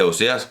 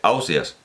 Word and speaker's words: Ausiàs: gandia ósea ausiàs ausiàs entonces se equivoca porque colom se equivoca porque dice que las tierras valencianas se dice ausías pero resulta que en gandia se dice ausiàs a óseas pronuncian su